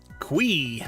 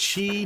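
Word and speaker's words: Qi: Quei. That's right. Not chi, not Kai, not key.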